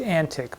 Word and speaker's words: antic: I said thine antique pen, which apparently was pronounced antic, but my memory's not what it used to be. And it looks like antique, so I pronounced it antique. But you should hear antic, so that there's this double meaning to it.